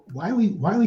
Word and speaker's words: Wylie: often use to say it's Wiley like Wiley Coyote and they're pronounced pretty much the same and that that helps